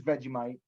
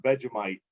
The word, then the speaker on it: Vegemite: saying, so like, what I'm saying is like, okay, so what is Vegemite?